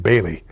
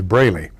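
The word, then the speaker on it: Braley: was campaigning on television she kept calling him Bailey uh his name is brayy uh and and here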